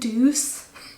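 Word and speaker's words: Doucce: tea there's a few brands like that brand deuce i can't i can't say that name without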